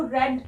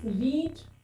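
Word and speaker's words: read: Friends, रीड, रेड, रेड यानी कि हमें स्पेलिंग तो सेम ही रहेगी लेकिन प्रोनाउंसिएशन में फर्क आ जाएगा। जब भी हम वी सेकंड यानी वी थर्ड को प्रोनाउंस करेंगे तो यहाँ पे रेड प्रोनाउंसिएशन की जाती है, रीड की।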